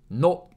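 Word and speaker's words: の: No. No. No is pronounced like no in nose or nori.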